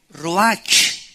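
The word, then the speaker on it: רוח: es la palabra hebrea Roach que se pronuncia ro La ch en el hebreo se pronuncia como j y que es la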